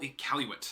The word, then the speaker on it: Iqaluit: canadians none of it's capital iqaluit that's how you pronounce it none of it right